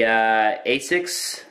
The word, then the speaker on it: ASICS: way row there all right we have the asics that's how you pronounce it snap-down sleeve knee pad anti-odor oh